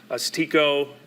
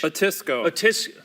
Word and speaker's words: Otisco: Mary area, even heading toward Otsego, is that how you say it, Mitch? Otisco.